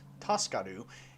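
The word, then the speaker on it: 助かる: TSKR, pronounced Taskaru, is an acronym for the Japanese phrase Taskaru, which means to be saved or help.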